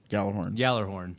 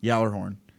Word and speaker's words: Gjallarhorn: Yallerhorn. Yallarhorn. The G, you don't pronounce the G. Odin filled The J is a yah sound.